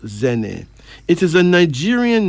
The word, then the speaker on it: Zene: Pronounced Zene.